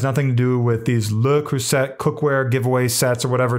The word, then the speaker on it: Le Creuset: It's not Le CREUSET. It's apparently Le CREUSET or Le.